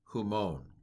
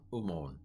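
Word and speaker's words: ὑμῶν: all a mess um I learned a certain erasmian uh translation or pronunciation that would say it like this uh humon this is a very anglicized and boring uh pronunciation that drives modern Greek speakers crazy modern Greek would be something like and I apologize ahead of time pantote and passy decanton umon actually the rough breathing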